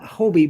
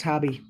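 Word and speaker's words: Hobbii: Yeah, little knits, and I always said Hobie, but I guess it's pronounced hobby.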